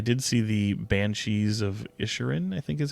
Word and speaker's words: Inisherin: talk about, I did see the Banshees of Inisherin, I think is how you say it, Inisherin.